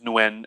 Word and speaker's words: Nguyen: new year the patriot now you can also call him nuen that's how technically how you pronounce his nun the patriot um and